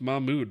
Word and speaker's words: Mahmood: Okay, so it's pronounced Mahmood. My bad. I will try to remember that next time. It's kind of like numbers and stuff, so I mispronounce stuff all the time on stream. So feel free to correct me if I do. It's Mahmood or Mahmood. Is it Mahmood or Mahmood? I'm probably still pronouncing it wrong. It's probably neither of those.